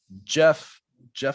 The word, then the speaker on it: Geoff: Jeff Lawton. Lawton. Lawton. Jeff Lawton. GEOFF. Jeff Lawton. Ooh, the British spelling. So he finds very much British. Whenever I see a GEOFF, I always want to mispronounce it.